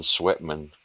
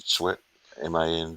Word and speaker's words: Sweatman: Martin Sweatman, You know, that it's spelled like it sounds. pretty well I think. Yeah, Martin Sweatman. I'm pretty sure. Let me check too. There. Yeah, sweat as in sweat, Man, Sweatman, Martin Pre Sweatman.